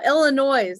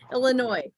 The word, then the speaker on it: Illinois: silent or not uh Illinois sorry Illinois because you don't really say the S Arkansas they have s's